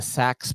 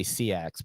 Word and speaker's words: Sax: this is the the sax pry I used I used to say CX but I heard that it's pronounced sax and this is by